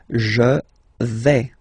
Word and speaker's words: vais: Okay, so remember, final S not pronounced here. Je vais. Okay, when you combine this A-I, you get the sound E, really open.